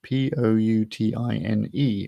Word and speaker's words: poutine: dish etc that is poutine p-o-u-t-i-n-e which you have to be slightly careful when you pronounce it because it's very like a rude word in french but anyway